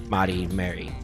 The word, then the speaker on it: Mari: And she also shares a similar name to them, just more of the Japanese pronunciation of Mary, Mari.